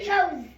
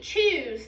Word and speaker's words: chose: Chose. The E is silent, so it gives power to the O and makes the O say its name. So it doesn't say choose, does it?